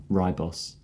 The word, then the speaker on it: Ribos: where I've sort of always pronounced it differently so I might say it wrong great and cause controversy but I think it's called the reboss operation what do other people say it is ribos oh no actually I